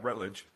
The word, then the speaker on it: Routledge: for the Routledge, I don't know how to pronounce that, Encyclopedia of the Middle Ages. Is that what it's called? Yeah, Rutledge. Yeah, Routledge.